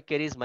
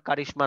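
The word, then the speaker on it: charisma: এস এম এ ক্যারিজমা উচ্চারণটা হবে ক্যারিজমা এটার উচ্চারণ আবার কারিশমা না হ্যাঁ হিজ প্রেস্টিজ এন্ড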